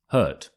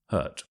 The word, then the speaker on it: hurt: the next word is hurt hurt so we don't always pronounce the t's at the end of words in the UK however with this word we do so it's hurt hurt quite a strong